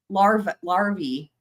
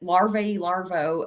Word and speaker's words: larvae: Oh yes, it was larvae, but I called it larvo.